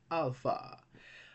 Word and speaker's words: alpha: First in the list, alpha. Alpha, well, it's one of the easiest letters to pronounce in Greek. It is pronounced like our A in English, like in father. Okay, father, alpha.